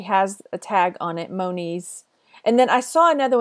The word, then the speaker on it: Monies: I'm saying it wrong Moniz and Moniz but it looks like it rhymes with ponies so no knees right